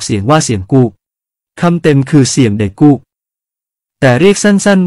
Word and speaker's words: เสียมกุก: ภาพและความหมายของคำว่า เสียมกก เป็นที่สงสัยกันตลอดมา ก่อนอื่นจะขอพูดถึงคำนี้เสียก่อน มีหลาย ๆ ท่านอ่านว่า เสียมกุก ไม่ถูกต้องนะครับ สระ อุ ที่เราเห็นนั้น ภาษาขอม ออกเสียงสระ โอ ออกเสียงเป็น โกก เป็นเสียงยาว ไม่ใช่ กก เสียงสั้น ฉะนั้นคำนี้ ต้องอ่านว่า เสียมโกก ปริศนาของคำที่เราออกเสียงว่า กุก ถ้าจะออกเสียงแบบภาษาพูด จะออกเสียงว่า